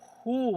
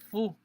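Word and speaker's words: ふ: Este aqui, galera, tipo assim, é um hu, mas na verdade a gente fala fu, entendeu?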